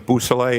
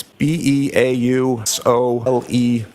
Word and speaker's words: Beausoleil: It's Trooper Jason Bousselet. It's Beausoleil.